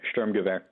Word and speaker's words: Sturmgewehr: Yeah, it's German, Sturmgewehr.